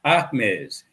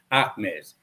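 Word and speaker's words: Ahmes: in egypt slash kemet by a man named ahmez and that was 1500 bc what algebra came out of africa damn right it did if you don't believe me research your brother by the name of ahmez his name is spelled a h m e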